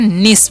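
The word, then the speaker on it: niece: हम यहां पर है एन आई ई सीई तो इसे हम क्या पढ़ते हैं निस पढ़ते हैं निस मतलब क्या होता है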